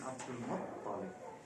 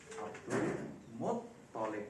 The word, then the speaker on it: Abdul Muttalib: Mahmud Abu Royah menyerang hadis istisqa, meminta hujan dengan berkat Sayyidina Al-Abbas bin Abdul Muttalib. Abdul Muttalib, bukan Abdul Muttalib. Abdul Muttalib, bukan Abdul Muttalib. Tasdidnya jangan kebalik-balik.